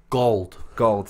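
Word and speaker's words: Gauld: Gold, not like old but with a G. Okay. Not old with a G. Not Gould.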